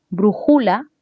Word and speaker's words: brújula: Brújula, brújula son formas incorrectas. Lo correcto es decir brújula.